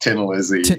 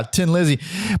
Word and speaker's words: Thin Lizzy: i think the band might even be pronounced tin lizzy yeah tin lizzy but like what made